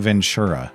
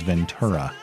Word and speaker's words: Ventura: I realized I was saying Ventura during the interview, but the proper pronunciation is Ventura. Get that correct.